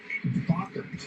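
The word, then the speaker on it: Bachar: New pitcher for the Marlins is Lake Barker. Rhymes with soccer. 30 years old, 3rd big league season. And the pitch is low to Ryan McMahon. I think you get along with Bacher, David, because he's into ghosts.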